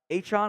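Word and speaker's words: Achane: it's like Devon uh hon I changed pronunciation it's hon now not a train he changed it release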